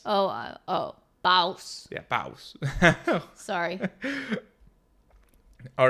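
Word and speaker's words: BAUS: anyways sorry b a u s oh oh bous yeah bous sorry all right let's start with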